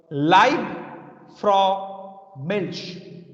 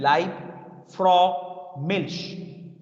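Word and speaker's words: Liebfraumilch: please people listen carefully it's called live fro milch i repeat again live lieb live fro milch live from milch it's a notable international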